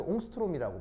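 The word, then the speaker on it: Ångström: 이게 그 부유럽 단어인데 발음이 좀 묘해. 오오 정확앤스트램이라고 발음하거든요. 근데 이제 이게 그냥 편하게 옹스트롬이라고 발음을 합니다.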